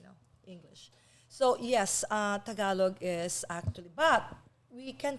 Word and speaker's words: Tagalog: Tagalan. Tagalog. Tagalog. Yes. Accents on the Ah.